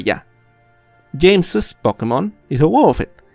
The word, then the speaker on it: James's: James, y aunque aquí no hay una E como en Bruce, vamos a pronunciarlo como si hubiera una. James's.